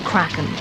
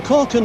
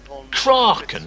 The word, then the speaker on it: kraken: out of the sea what did he say there kraken that's not the correct pronunciation stu is it it's kraken or kraken or something surely no actually i think